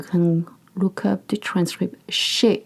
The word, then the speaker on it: chez: Chez. It's not chaise. It's chez. Chez moi means at my place. For example, par exemple, je suis chez moi. Je suis chez moi.